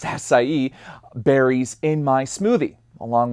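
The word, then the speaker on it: açaí: And I tend to have my blueberries, my acai, acai, actually, it's pronounced acai, berries in my smoothie, along with bananas and strawberries.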